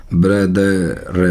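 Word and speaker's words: brother: ब्रदर, ब्रदर नहीं, रे नहीं प्रोनाउंस होगा, लास्ट में ऐसा प्रोनाउंस होगा, और ए के लिए उल्टी ई।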